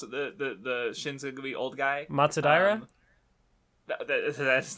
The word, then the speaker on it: Matsudaira: chief, the boss of the Shinzugumi old guy, Matsudaira. That's his name? Okay. Matsudara. Okay, I'll try. Matsudaira.